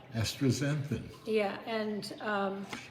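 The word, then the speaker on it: astaxanthin: renew how do you say it access exanthin astrazenson that's not right either yeah right astrazanthin yeah and um it's the only supplement or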